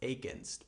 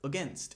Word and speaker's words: against: The schwa sound is at the beginning, a, not against, but against.